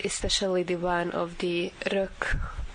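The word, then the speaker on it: Reök: Yeah, we very much enjoy the facades of many buildings, and especially the one of the Rök Palota, which is spelled R-E-O-K Palace, K Palace.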